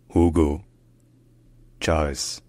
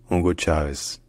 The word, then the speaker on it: Hugo Chávez: In Spanish, his name is pronounced Hugo Chávez. Hugo Chávez. Hugo Chávez. Hugo Chávez.